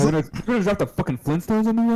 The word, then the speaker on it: Flintstones: Is it the Flint Stones or the Flynn Stones? It was Flint, like rock. Flint. This one is saying the Flint Stones.